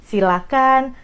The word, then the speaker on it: silakan: bedah dulu dari pronounciationnya jangan pakai ha itu yang paling penting Jadi silakan persilahkan jangan pakai itu dari pronounciationnya Nah kalau dari katanya